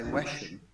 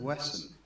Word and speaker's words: Wesham: The number of times I hear people say Wesham instead of Wesson.